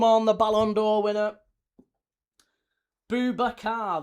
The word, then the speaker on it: Boubacar: Boubacar, that's 3. Yes, there you go. Boubacar, correct.